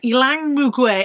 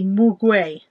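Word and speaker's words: muguet: And then the gold one is grapefruit mandarin, ylang mugwai. I don't even know if I'm pronouncing that correctly. M-U-G-U-E-T, mugwai.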